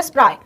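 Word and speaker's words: spry: Next with her स्प्राई, ये देखो antonym पूछा है, इसका प्रोनाउंसिएशन है स्प्राई।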